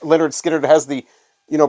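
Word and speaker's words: Lynyrd Skynyrd: know how to pronounce Leonard Skinner since their name their album title is literally pronounced Leonard Skinner it has the you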